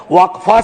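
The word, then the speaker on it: वक़्फ: और अलग अलग लोग इसका प्रोनाउंसिएशन अलग करते हैं, कोई वक्फ बोलता है, कोई वकफ बोलता है।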